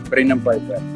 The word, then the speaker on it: Brendan Peyper: Brandon paper sê my sê my net gou announce ek jou pronounce ek jou naam korrek. Brandon Papers. Ja Brendon Paper.